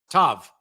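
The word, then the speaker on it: ת: It's pronounced tav.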